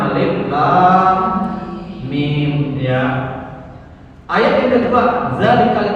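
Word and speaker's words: ألم: Cara bacanya macam mana? Baca hurufnya Alif Lam Mim. Nah, itu kalau telah belajar. Tapi kalau orang belajar alamak, ya, dulu saya pernah tes guru di sekolah saya. Ayo baca, kata saya. Dibacanya surah Al-Baqarah ayat yang pertama itu alamak. Padahal mestinya Alif Lam Mim, ya.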